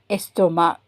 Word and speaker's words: estomac: And estomac. So, you don't pronounce the C.